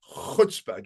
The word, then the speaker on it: chutzpah: in a private room, just say chutzpah. Get that real, almost Afrikaans sound at the beginning, chutzpah.